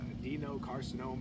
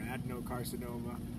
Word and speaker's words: adenocarcinoma: They call it adenocarcinoma or adenocarcinoma. I've heard it pronounced either way.